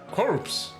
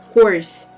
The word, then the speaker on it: corps: Corpse? No, course. No, Not no, without the P. no, it's corpse. I know, but it's pronounced without the R. Corpse? Course. No, corpse. No, it's pronounced without the R. Without the R or without the P? Oh, sorry, without the P, yes.